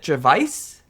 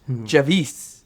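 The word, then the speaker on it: Javice: I would have said Javvice, but it's Javvis like peace.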